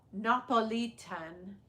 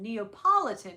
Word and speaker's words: Neapolitan: Nap Napoleon is an Italian pronunciation. Neapolitan is the American.